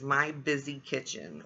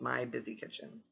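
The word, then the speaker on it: My Bizzy Kitchen: And her twin sister's name is My Busy Kitchen, which is spelled MYBIZZY Kitchen. So that's My Busy Kitchen.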